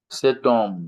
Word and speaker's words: homme: Cet homme. You see, the ash is silent, ash silent.